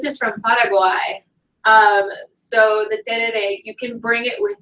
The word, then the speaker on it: tereré: okay, please forgive me, I learned how to pronounce this and I don't remember it, Turere. It needs yerba mate. Can I take it to the United States with me? So this is from Paraguay. So the tereré, you can bring it with you.